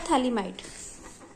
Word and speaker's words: Phthalimide: ये कहलाता है थैलामाइड। टी यहाँ साइलेंट होता है।